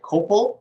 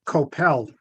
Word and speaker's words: Kopel: me i see one p so is it copal like leora said or is it couple as in head which is what i called you well it's actually koppel which is why my father always used a